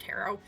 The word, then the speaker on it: tarot: I regionally, it's something that I read like it rhymes with carrot, and I know it's pronounced tarot, but sometimes I'm just like not quite thinking, and I'm like, oh, tarot.